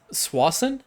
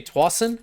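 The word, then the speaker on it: Tsawwassen: Years ago, we went to, I think it's Swassen. That's how they say it, Swassen. I've also heard it say Twassen for my Canadian viewers.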